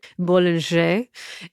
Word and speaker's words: Bollinger: So for instance, Bollinger, if we're going to pronounce things correctly, Bollinger, they own L'Aglo Chateau.